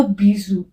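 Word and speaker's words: bijoux: में लगा देंगे एक्स तब भी इसका प्रोनाउंस एशन बीजू ही रहेगा प्रोनंसिएशन चेंज नहीं होगा एक्स लगने से ठीक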